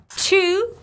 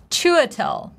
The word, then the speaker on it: Chiwetel: To pronounce his first name, let's break it down in three syllables. Chiwetel. Chiwetel. Chew, like chewing gum, chew, chew. Then we have schwa sound, very simple. Chua, super simple. And then we have tell, you know, tell me what's up. Chiwetel, Chiwetel. We're stressing the very first syllable.